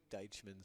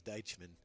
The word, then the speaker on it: Deitchman: Mike Deitchman's son said, put some respect on his name and say it right. So it is Deitchman.